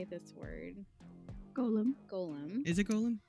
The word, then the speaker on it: Golem: Golem. Is it Golem? It's Gollum from In- Lord of the Rings, but Golem is the creature.